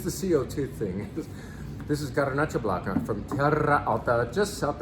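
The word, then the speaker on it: Garnatxa Blanca: This is Garnacha Blanca, and it's spelled with a T and an X instead of a CH because it is from Catalonia.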